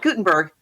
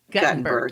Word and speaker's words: Guttenberg: Not Gutenberg. Guttenberg.